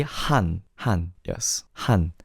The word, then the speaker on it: Han: As long as you don't pronounce it with the A sound in Han, just say Han. Han, yes. Han. Han is correct.